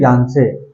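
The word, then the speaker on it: Yangtse: तवांग में यांसे एक जगह है, यांसे, ठीक है, यांसे अगर आप उसको बोले, उसका प्रोनाउंसिएशन देखे, उच्चारण देखे तो वो आएगा यांसे।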